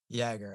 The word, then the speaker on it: Jaeger: name so it's a Jagger yagger okay so like the cat and Jagger like Jagger Meister yeah I think I've